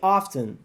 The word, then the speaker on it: often: We have been here really often. Ou seja, nós estivemos aqui realmente muitas vezes. E é o mesmo que frequently que eu falei agora há pouco. Você não vai pronunciar esse T. Often, often.